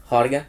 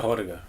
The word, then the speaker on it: Harga: los Harga, ajá, Harga, Yo creo que es Horga, se escribe Harga, pero se pronuncia Horga, creo.